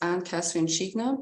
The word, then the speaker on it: Kathrin Zscheigner: So the pronunciation is Kathrin Zscheigner, but as always, it's just.